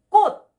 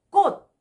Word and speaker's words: 꽃: Because so many students feel difficult to pronounce about 꽃. Flower. 꽃. 더블 기역. 끄끄끄끄끄끄끄끄끄. 꽃. 꽃.